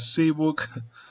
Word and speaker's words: Cwook: I think this guy told me to pronounce his name as Cwook, so that's what I'm going to do.